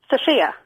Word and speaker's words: Sophia: Sophia is Sophie, basically, with an F. And how do you say your name? Sophia. Sophia. Yeah. Sophia. So it's almost an A.